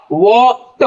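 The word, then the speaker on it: walked: अब देखिएगा, ये वॉक है, इसमें जब ईडी लगेगा तो प्रोनाउंसिएशन होगा वॉक्ड, वॉक्ड नहीं होगा, द नहीं होगा, वॉक्ड।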